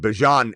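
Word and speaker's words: Bijan: But Bjon is how you say Bjan Robinson.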